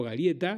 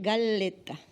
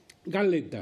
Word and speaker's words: Galleta: Curiosidad, es Galleta. Galleta. Es italiano, doble L, la L no existe en el italiano, entonces Galleta.